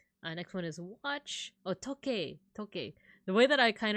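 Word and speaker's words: 時計: So talk, you find that sound in toke. But if you say it like in an Americanized accent, but you would pronounce it toke.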